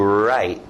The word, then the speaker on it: write: Esse é um verbo que você faz com a mão e a caneta, escrito W, mas som do R, to write, to write, to write.